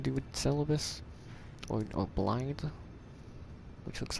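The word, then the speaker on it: Blaidd: with Celabus or or Blade, which looks like Blade, the wolf guy. It's pronounced like Blight.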